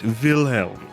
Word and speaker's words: Wilhelm: wait a second you say it just like you'd want to say it with your accent vilhelm ah yes ah Vel